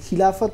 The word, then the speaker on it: খিলাফত: আচ্ছা একটা জিনিস আমি একটু অ্যাড করতে চাই খিলাফতের কথা যখন উঠলো আমাদের ভারতীয় দর্শকদের কাছে না এই খিলাফত কথাটা একটু আমরা ভুল বুঝি কারণ এটাকে আমরা